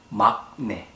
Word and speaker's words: 막내: Even though the first letter has 기역 on the bottom part, it should sound like 응. So it's 막내, not 막내.